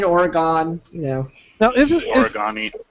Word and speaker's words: Oregon: at least I say Oregon right Oregon Oregon you know now is it do you actually pronounce it with all three syllables or do you just shorten it to twoam no Oregon is